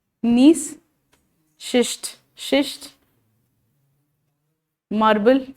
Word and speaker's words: schist: So example of the metamorphic rocks are शिस्ट, SCHIST, शिस्ट. Slate, marble, gneiss, GNEISS, ji silent है, नीस.